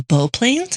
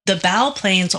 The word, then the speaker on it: bow planes: It's spelled like bow, and I've always heard it as bow because I'm not a nautical person who says bow. So here's the thing with that. It's clearly bow.